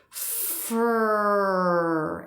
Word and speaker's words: for: Now with Sawyer here, I've slowed it down, so you're not going to hear it as short, but you'll definitely hear it's fur and not for.